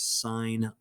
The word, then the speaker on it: sine: like this out loud don't say sin sin is not a bad word okay but it sounds like you don't know what you're talking about nobody who has learned